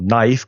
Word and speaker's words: knife: Porque ya sabes que muchas palabras, como knife, que tiene una K que no se dice, como receipt, que tiene